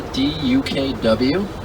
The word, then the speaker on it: DUKW: This is called the DUKW. That's how we spell duck. The C is absent, the W is silent.